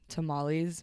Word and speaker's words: tamales: and we were making tamales. My mom's gonna be like, mija. But I pronounced tamales and not tamales when I was like speaking Spanish, and my mom was like, mija, tamales.